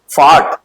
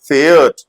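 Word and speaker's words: fährt: ऐसे ही एयर जीएस के साथ भी वो पढ़ेंगे फार्ट, नो इट is wrong. Air जीएस के साथ क्या पढ़ा जाएगा, फेयर्ट, डू फेयर्स्ट, एयर फेयर्ट।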